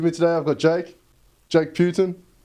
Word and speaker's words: Putan: So my family's always pronounced it as Putan. Putan. And it sounds very Aussie.